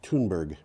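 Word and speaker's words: Thunberg: oro so this would be betoonboro but it's toonberg anyway you've read the the the title and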